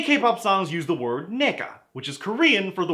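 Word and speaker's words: 네가: Plus, it's not even pronounced like the N-word. The N-word has a hard G like ga, while the Korean G is like a mix of a G and a K.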